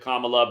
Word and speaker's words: Kamala: isn't it Kamala Kamala I know she pronounces it Kamala but don't forget the